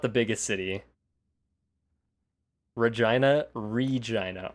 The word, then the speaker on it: Regina: the biggest city Regina Regina r e g i n a that is how it is pronounced no not vagina it is Regina wiggling